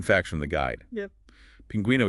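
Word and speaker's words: pingüino: Pinguino is stressed on the gu syllable, but it still needs the diaeresis to show the U isn't silent.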